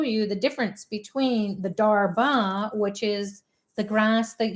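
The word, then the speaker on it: darbha: want to show you the difference between the darba which is the grass that you offer or we offer to the ancestors so this is darba d h a r b a uh is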